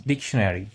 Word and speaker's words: dictionary: red, Baby, this is dictionary. You say dictionary. no, that's wrong. But dictionary. No, not Mary. It's nary. You say okay.